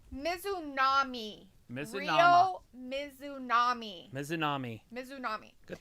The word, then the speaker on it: Mizunami: But it's Mizunami.